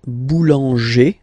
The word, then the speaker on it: boulanger: Okay, then we've got this group like boulanger, boulanger, ER.